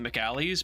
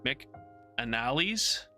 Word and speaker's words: McAnally's: I want to call it McAlley's, but it's McAnally's. There's an N.